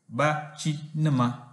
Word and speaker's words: Bachinama: Bachinama has four syllables, they are ba, chi, ni, ma. Bachinama.